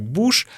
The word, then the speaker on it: будешь: Мы будешь произносим как буш, а сегодня как сегодня.